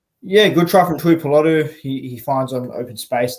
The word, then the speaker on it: Tuipulotu: In the 37th minute, through Christian Tupaluta, Manly go left with Foran to Schuster to I can't even pronounce his name. Christian Tupulotu. Oh, I'm sorry. Tuipulotu.